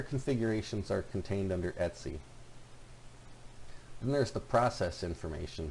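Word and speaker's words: /etc: machine are primarily stored under the DTC directory and that's pronounced etsy so this will have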